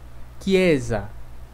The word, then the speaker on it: chiesa: Depois nós temos CHE, CHI, que tem som de que, ok? Então, essas palavras são pronunciadas assim. Que, anche, que, chiesa.